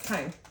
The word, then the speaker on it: thyme: No, it's thyme. The H is silent.